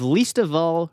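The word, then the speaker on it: Leesta Vall: was episode 44 we interviewed the owner of least of all records but it is not spelled least of all it is spelled l-e-e-s-t-a space v-a-l-l i love the name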